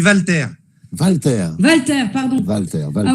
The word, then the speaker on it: Walter: Non. Non. Bruno l'a bien prononcé tout à l'heure. On dit Walter.